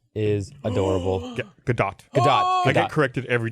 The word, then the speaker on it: Gadot: Gadot. Gadot. I get corrected every time. I've heard it pronounced 4 ways, so now I can never remember. Or the T is silent. Nope, Gal it's not.